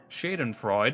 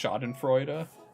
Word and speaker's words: Schadenfreude: Though perhaps Schadenfreude might have been a more appropriate term to use in this instance.